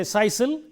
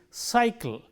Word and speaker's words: cycle: So, we say cycle, we do not say sisal, nor do we say kaikal. So, it is cycle.